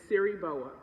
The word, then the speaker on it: Siriboa: But growing up, my name was taught to me that it was Siriboa, and I get all kinds of pronunciations and versions of that.